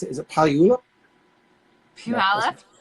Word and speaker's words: Puyallup: Is it Puyallup? Puyallup? Puyallup.